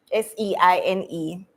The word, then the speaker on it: Seine: Somebody pronounce this word. Seine. Seine.